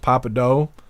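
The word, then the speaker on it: Pappadeaux: that happen happened noad it's pronounced Papa do thank you for letting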